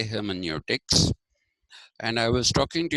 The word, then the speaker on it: hermeneutics: calling it heroics but it is not necessary that we we use the German variation of it if it was a